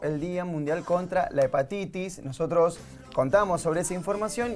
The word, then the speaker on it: hepatitis: por eso hablemos de hepatitis la h no se pronuncia es silenciosa y puede pasar totalmente